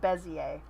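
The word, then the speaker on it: Bézier: Also, it's technically pronounced bezier, but I'm not fancy.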